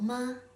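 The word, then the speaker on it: 麻: Next, when you assign the second tone to the syllable ma, it's pronounced ma with a rising tone. Repeat after me, okay? Ma, ma, ma. That's right. It means hemp.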